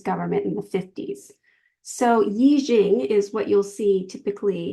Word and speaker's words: Yijing: So the Book of Changes, it is sometimes in older literature presented as I Ching. Yijing is actually the proper pronunciation, Yijing.